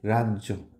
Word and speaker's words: রাজ্য: যে দেখো, এই যে রাজ্য, এই বর্গীয় জটা কি করছে, ও বর্গীয় জটাকে ডাবল করে দিচ্ছে, কিন্তু রাজ্য।